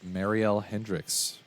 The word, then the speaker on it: Mariel Hendricks: of Vet Clinic convos today our guest is Marielle Hendricks Mary am I saying that correctly congratulations okay